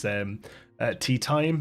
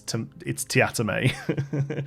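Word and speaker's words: Teatime: but his name is Tea Time, Mr. Tea Time. But whenever he pronounces it, it's Tiatame, and it's completely ripped out of Discworld.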